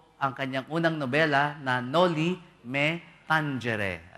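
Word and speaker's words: Noli Me Tangere: kanyang unang nobela na Nolly Meangere ayon yun po talaga pronunciation sa latin yung Spanish sa ano natin no metanghere pero at ang latin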